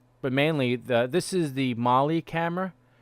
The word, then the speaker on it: MAHLI: But mainly, this is the Mali camera. It's pronounced Mali, but it's MAHLI. It's an acronym, Mars Hand Lens Imager, and it's the most high resolution camera that they have on the rover.